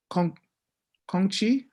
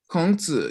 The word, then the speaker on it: 孔子: Kongqi? I forget. 孔子 Kongzi, yeah, thank you.